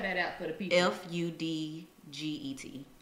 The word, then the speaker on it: Fudget: I just usually write it down, or I use this app called Fudget. Budget? Mm-hmm. Spell that out for the people. Fudget. Just like budget, but with an F.